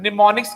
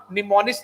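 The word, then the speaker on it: mnemonics: लेकिन असेंबली भाषा में होता है निमोनिक्स कोड, ठीक है, निमोनिक्स। अच्छा, निमोनिक्स की सर स्पेलिंग गलत नहीं है, यहाँ पे एम साइलेंट होता है, जैसे आप बोलते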